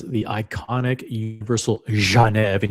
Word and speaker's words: Genève: I'll go to Houdinki here, where it says the iconic Universal Genève, and you have to pronounce it with that G, like Dr. Zhivago.